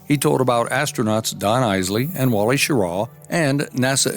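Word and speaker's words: Eisele: Don had two N's, and Isley was the name. It was always mispronounced. It was spelled E-I-S-E-L-E, but it came off Eisel and Ezel.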